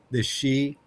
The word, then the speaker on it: Sidhe: Have you ever heard of the she? It's spelled Sidhe, or they're called the Shining Ones sometimes.